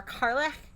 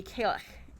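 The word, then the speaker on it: Cailleach: barley or oat mother carlin or carlach i think that's how it's pronounced um nope that's not right it'd be kalech in scotland i will be pr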